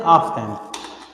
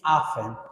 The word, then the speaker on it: often: Don't say often. The correct pronunciation is often.